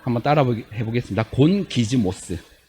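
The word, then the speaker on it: γογγυσμός: 자, 여기서 원망이라는 건요, 헬라어로 곤기스모스예요. 자, 한번 따라 해보겠습니다. 곤기즈모스. 그 발음이 좀 어렵죠?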